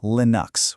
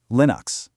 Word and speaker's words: Linux: It's pronounced Linux, with that short I sound, like in the word pin. He just combined his name, Linus, with the system that inspired it, Unix. Simple as that. Linux.